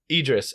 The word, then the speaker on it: Idris: Idris.